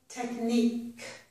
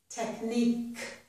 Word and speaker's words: technique: Technique. Technique. So here, Q-U-E makes a k sound. Technique.